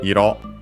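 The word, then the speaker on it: 色: Comes actually from iro, on accent on the last syllable on its own.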